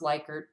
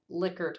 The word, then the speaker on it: Likert: You've probably heard this pronounced Likert, but I actually looked it up, and Likert is the way that this is pronounced, and that measures the intensity of feeling.